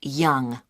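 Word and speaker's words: Yonge: have your name yes it's young young that's that's spelled y o n g e that's young i see and your address 15.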